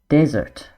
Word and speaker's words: desert: And just take note of the pronunciation here. We have dessert, the sweet meal, and desert, dry land where there's lots of sand and no water.